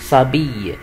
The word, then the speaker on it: s'habille: الأش هنا يا جماعة ما بتتنطقش، وال ال ما بنطقهمش، يبقى عشان كده بقول ايه il و elle s'habille à 7h25.